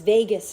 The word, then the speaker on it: vagus: of this week is vagus nerve so spelt a wee bit differently than las vegas but pronounced exactly the same this is essentially the